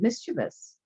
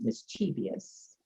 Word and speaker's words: mischievous: is also a bit mischievous i know you americans pronounce it mischievous but it's actually mischievous okay in order to